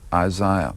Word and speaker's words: Isaiah: as Shia Berlin, but the proper way to do it is Isaiah. A lot of Americans say Isaiah.